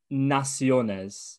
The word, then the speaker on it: Naciones: gonna have to help me out with this pronunciation because spanish isn't my forte it's naciones is it that's perfect perfect perfect so you're